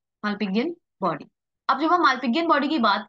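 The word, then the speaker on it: Malpighian: बताइए मान बडी और मान बॉडी ववर य प्रोनाउंस ठीक है माल पियन बॉडी अब जब हम माल पियन बॉडी की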